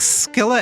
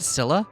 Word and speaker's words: Scylla: It's like Scylla and Charybdis. Isn't it Scylla? Or is it a hard C?